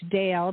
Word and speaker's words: Dayle: a website which is Dale d a y l e Dale s c